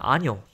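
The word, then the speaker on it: año: 그리고 여기는 아뇨, 해, 1년 할 때 그 해라는 뜻인데, 그것도 마찬가지로 모음으로 끝났으니까 이제 악센트는 맨 앞에 음절, 뒤에서 두 번째에 오면 됩니다. 그래서 아뇨라고 읽으면 되고요.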